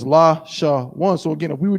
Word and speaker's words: Lashawan: So it would be la, sha, wa, na. But it's not, because that's 4 syllables. We need it to be la, sha, one.